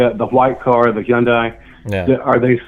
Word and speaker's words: Hyundai: be h-o-n-d-a-y instead it's h-y-u-n-d-a-i man that is one of the weirdest things I've ever seen what's the correct pronunciation there it's Hyundai instead of Honda okay whatever no just no Hyundai like you know all right anyways